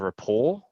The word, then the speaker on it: rapport: Rapport. RAPPORT. Yeah. Doesn't sound how it spells.